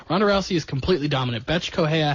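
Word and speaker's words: Bethe Correia: Betch Correia had no chance, and that's exactly how you pronounce it. I checked.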